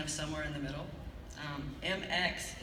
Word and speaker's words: Mx: somewhere in the middle MX is the gender-neutral term for mr. or miss and it is pronounced mix so you may call